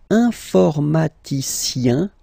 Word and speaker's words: informaticien: And the last group is I-E-N, informaticien, yin, yin, yin. So that's the way to pronounce this I-E-N, yin, yin.